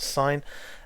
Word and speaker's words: sine: as SI any abbreviated to SI n and pronounced sign and it's the sine of this angle here